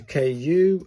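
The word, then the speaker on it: く: That's a KU, as in cuckoo.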